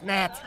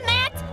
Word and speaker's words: gnat: you are a gnat it's a g silent it's Nat are you calling me a net no just correcting your